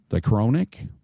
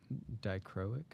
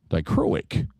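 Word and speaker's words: dichroic: I go I'm going to screw up the pronunciation uh and I purpos I purposely saved this dro they're doricronic dicroic dicroic okay that's what we'll get dicroic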